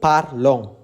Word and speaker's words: parlons: Selanjutnya yang kalian perlu cari adalah nous parlons, ons. Itu kalian perlu ucapkan.